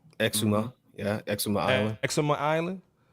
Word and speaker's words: Exuma: Am I pronouncing that correct? Exuma.